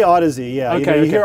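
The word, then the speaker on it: Audeze: fantastic odyssey is pro and how do you pronounce it you don't we say odyssey yeah okay you hear audis a lot that's the most common variant i'd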